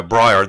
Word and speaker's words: Briar: paddy gordon um was in the band a breer is that how you pronounce it yeah breyer the briar folk group briar in the band